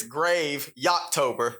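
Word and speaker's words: Graveytober: And then uh so cuz like it's not Gravy October. It's Well, you will have to say it. I can't even pronounce it. Yeah. He can't even do it. It's Grave Ytober. It's like graveyard, but we take out the ar and it's just grave ytober.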